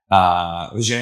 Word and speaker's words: Vijay: Vijay, I'm saying it right?